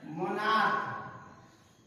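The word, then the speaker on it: monarch: मोनार्क, इसको भी हम क्या पढ़ते हैं? मोनार्क। इसके अंत में भी CH है, लेकिन इसका उच्चारण क्या हो रहा है? क के रूप में हो रहा है, तो इसमें भी क्या करेंगे हम?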